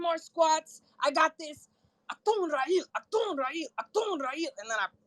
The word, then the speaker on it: Achtungrael: Achtungrael.